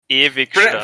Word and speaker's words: Ewigstadt: Ewigstadt. Pronounce the W as a V, and then just jam it through your lexicon, and it'll be close enough. The orcs are attacking Irvingstad.